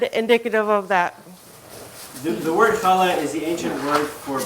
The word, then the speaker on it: Challah: funny name that I didn't know how to pronounce until earlier. And I asked these ladies, is it called Challah? No. Is it Challah? No. How on earth do you say this stuff? Challah.